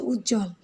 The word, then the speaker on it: উজ্জ্বল: মফলা কিংবা বফলা যুক্ত হচ্ছে সেক্ষেত্রে কিন্তু তার উচ্চারণটা আমরা পাচ্ছি না, যেমন হচ্ছে উজ্জ্বল, তারপর হচ্ছে লক্ষ্মী।